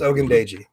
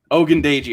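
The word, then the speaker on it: Ogundeji: combo okay and then last name is pronounced ogundaiji ogundaiji okay al if he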